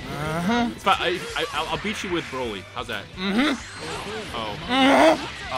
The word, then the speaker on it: Broly: Broly.